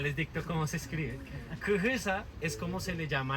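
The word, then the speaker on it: quyquyhysa: Kujisa. Kujisa, ya les dicto cómo se escribe. Kujisa es como se le llama al algodón en lengua muisca.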